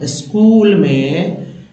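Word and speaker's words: school: स्कूल में एच जो होता है वो साइलेंट होता है, बहुत सारे लोगों को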